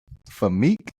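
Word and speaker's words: Famke: How do you pronounce this? Where's the pronunciation? You like the crazy girls, don't you? Her name is Famik Bomir Jansen.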